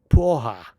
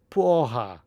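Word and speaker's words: porra: You pronounce it Pohha. Pohha.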